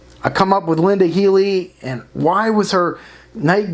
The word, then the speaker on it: Healey: how he murdered Linda Healey is it Healey or heaty I don't want to mispronounce her name wrong I believe it's it's Healey Linda Healey you know